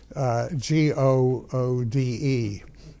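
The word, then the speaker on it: Goode: His name was Mr. Good, G-O-O-D-E, or Good as it would be pronounced there.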